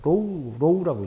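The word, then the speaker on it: ρ: 로우라고 읽어요. 로우.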